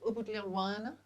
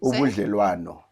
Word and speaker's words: ubudlelwano: Tell me about ubudlelwano. I hope I'm saying it correctly. Ubudlelwano.